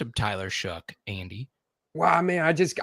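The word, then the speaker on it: Tyler Shough: It rhymes with one of the worst curse words you could say. Oh, sh. There you go. You got it. Tyler Shook, you did good.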